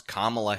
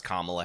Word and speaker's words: Kamala: way that I want to when you disrespect kamla Harris by saying you will call her whatever